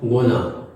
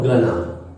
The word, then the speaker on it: gonna: short forms है हमारा गुना और गना गोना जो होता है वो ब्रिटिश उच्चारण होता है ब्रिटिश प्रोनंसिएशन होता और गना जो होता वो अमेरिकन प्रोनंसिएशन होता है तो गोइंग टू